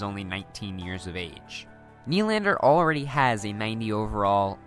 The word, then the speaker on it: Nylander: First up, we have William Nylander, whose name really should be pronounced Nylander.